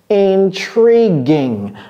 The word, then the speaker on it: intriguing: Intriguing. Ne prononcez pas ce U, ne dites pas going. Non, c'est pas intriguing. C'est tree, comme l'arbre, tree.